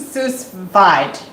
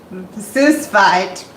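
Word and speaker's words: sous vide: some people say so it's French right the the S is silent so it's us V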